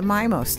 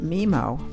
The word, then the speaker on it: MiMo: most I'll often pronounced MIMO for the record it is pronounced my mo mi mo is an acronym for Miami and modern that is why the mi is pronounced my Lapidus brought the gardens